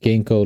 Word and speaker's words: GiNkO: genko came from uh it's pronounced genko like the herb g i n k o gko uh so the